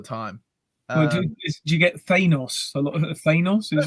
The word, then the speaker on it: Thanos: Thanos. And what about you, Ron? Sir. I asked Jim Starlin this question because I get that all the time. Well, do you get Thanos?